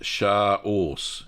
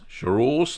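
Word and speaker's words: Chaource: By the way, it's pronounced char-ors. Char-ors, like a horse.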